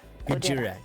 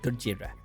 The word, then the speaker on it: Gojira: Gojira. Gojira.